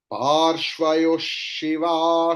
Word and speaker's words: पार्श्वयोः: तिष्ठतु पुरतः शूले तिष्ठतु पार्श्वयोः शिवा शङ्करौ तिष्ठेताम्. Here पार्श्वयोश, because विसर्ग के बाद श है तो विसर्ग का प्रोनाउंसिएशन श की तरह होगा.